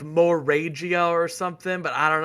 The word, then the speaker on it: Moragia: I say Moragia. I do too. All right, because it's like Volvagia.